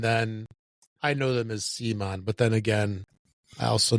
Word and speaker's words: CMON: Okay, I got to ask you, Rob, is it CMON or come on? I've heard it pronounced both ways. I've always said CMON. I know that there was a change, but it used to be Cool Mini or Not when they first started.